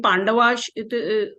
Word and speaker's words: Pandavas: In Pandavash, over S there is one apostrophe. Yeah, so it will be not pronounced as Sa, it will be pronounced as Sha. Pandavash. Right.